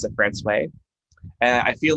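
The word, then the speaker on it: François: and so one of them uh would be pronounced francois usually but we pronounce it france way and i feel like i have to like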